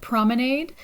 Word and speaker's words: promenade: So the picture we see here is La promenade des Anglais à Nice. Okay, in English we might see this word like promenade, and it's basically a place for walking, right? So in French it's pronounced promenade.